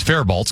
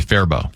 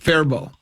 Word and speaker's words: Faribault: just assumed it was Faribault cuz that's the way it's spelled, but it is Yeah, there is no LT sound there. It's supposed to be Faribault. Faribault.